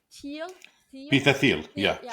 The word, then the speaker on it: Thiel: Peter, how do you say, Thiel, Peter Thiel.